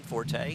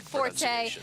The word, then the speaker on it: Forte: for calling him Forte it's the Italian pronunciation they're going with as uh Forte on the outside wide